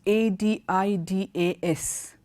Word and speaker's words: Adidas: country - one is this is Adi das is pronounced adidas adidas okay the second one is